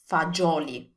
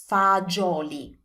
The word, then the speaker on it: fagioli: So in standard Italian, we pronounce this as fagioli. That's how we say that. So remember, it's a J sound. Fagioli.